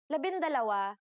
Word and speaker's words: labindalawa: For the letters D, L, R, S, and T, the G from NG is dropped to make it easier to pronounce. Labindalawa, labintatlo, labinlima, and labinsyam.